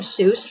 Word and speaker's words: Seuss: You're wrong as the deuce, and you shouldn't rejoice. If you're calling him Seuss, he pronounces it Seuss. Aha! He pronounces it Seuss. Everybody, tell your children, Dr. Seuss.